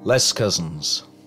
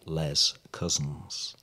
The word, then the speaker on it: Les Cousins: It was not known by its French pronunciation, always the very anglicised Les Cousins.